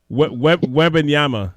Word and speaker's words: Wembanyama: Wembanyama? I can't pronounce his name properly at the moment. But everybody seems to be tanking for him right now. Wembanyama, sorry, that's his name.